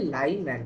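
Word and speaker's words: Lyman: नहीं बोल रहा है, ये बोल लाई नहीं है, ये है लाइमैन सीरीज।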